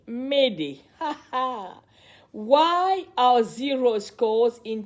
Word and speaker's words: m'aider: This comes from the French word M'aider, meaning help me, and is pronounced approximately M'aider.